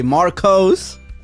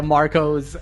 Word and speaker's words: Marcos: want to say it's it's really nice to hear Latino pronounce my name again I haven't heard my name pronounced that they know in a long time bro is that so it's usually Marcos yeah Marcos I just